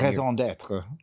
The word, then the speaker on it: raison d'être: Raison d'être.